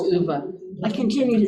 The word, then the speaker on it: Ove: I think it's pronounced Uva.